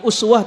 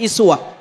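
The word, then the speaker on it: أسوة: Dalam qiraat yang lain kalau kita belajar tanawuul qiraat, imam yang lain Pak bacanya bukan uswah tapi iswah.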